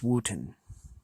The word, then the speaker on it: Wootton: I think I'm pronouncing that right. I think that's pronounced Wootton. Anyways, the cover image is by the brothers Hildebrandt.